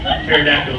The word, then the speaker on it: pterodactyl: Because the P is silent. Pterodactyl spelled with a P.